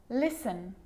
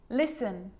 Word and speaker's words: listen: sneaky that one now the letter t can also be a bit sneaky and it can also be silent like in these examples there's quite a few listen listen castle castle ballet ballet